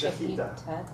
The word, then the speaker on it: shechita: As far as I know, it's pronounced shechita.